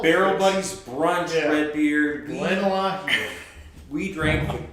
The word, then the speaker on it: Glenallachie: We drank the Glenallachie, which, please tell us if we are saying that right. Glenallachie. I think We it's that's it's right. Alahi. We know. No, it's Glenallachie. They really pronounce the Yeah, key.